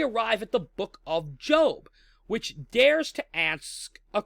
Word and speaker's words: Job: to good people right and the book of Job puts forward this scenario whereby there's a gentleman